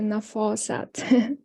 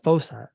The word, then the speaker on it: Nafasat: Hi Ben, it is actually Nafasat. Not FOSAT.